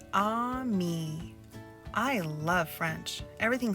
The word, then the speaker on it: ami: say friend in French the word is Ami my mom says you say it like this ah me I love French everything